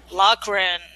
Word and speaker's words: Loughran: Jo Mo and how do you say your last name lockran oh that sounds easy